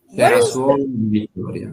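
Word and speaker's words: Cerasuolo di Vittoria: So Frappato is blended with Nero d'Avola to produce Sicily's only DOCG wine, Sarah, and I probably can't pronounce this right, Sarasolo di Vittoria. Sarasolo di Vittoria.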